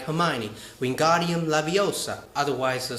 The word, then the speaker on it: Leviosa: from Harry Potter Wingardium Leviosa you need to pronounce it like Hermione Wingardium Leviosa otherwise the spell doesn't work yeah I know